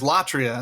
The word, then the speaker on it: latria: on the other hand there is latria and this is this is the you know the second and third syllables of idolatry okay so latria is